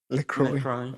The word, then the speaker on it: LaCroix: How do you pronounce it? LaCroix.